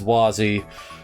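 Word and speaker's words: Wazy: even though I mean even in the official translation of trails from zero it's wazzy so I don't know where the L comes from how are you even supposed to pronounce the L with the dash through is that supposed to be why it's a w I don't know anyway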